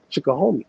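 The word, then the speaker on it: Chickahominy: you know I say I always mess up chck homie chck homie you know I mean that's how I say it now that's my pronunciation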